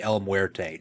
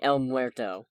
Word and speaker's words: El Muerto: i want it to be el muerte just to see what the heck they're gonna do with i'm sorry el muerto i was mispronounced oh sorry i i